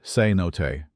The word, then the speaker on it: cenote: Cenote pronounced cenote.